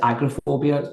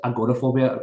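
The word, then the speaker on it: agoraphobia: I And you know I was I was um I had suffered um I know we pronounce it agrophobia agorophobia in other parts of the world and I was housebound for nine months.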